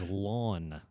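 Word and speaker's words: Laughon: is the last one, and my middle name is Lawn. like what you put a house in? No, it's pronounced that way, yes. But it's spelled laugh on.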